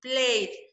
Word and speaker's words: played: But at the time of speaking, we only pronounce played without E, played.